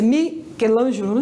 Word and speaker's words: Michelangelo: A pronúncia é Michelangelo, né?